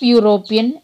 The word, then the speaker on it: European: The pronunciation of European begins with the sound of the letter Y. That is Y.